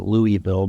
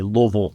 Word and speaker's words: Louisville: Louisville so and most people pronounce it Louisville but if you're from Louisville you say Louisville sure just Louisville that's how you wean out the that's how you know who the the real louisvillians are so yeah I uh